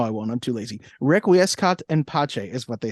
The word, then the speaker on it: requiescat in pace: So you have an idea of how it's pronounced. Let me pull that up. Requiescat in pace.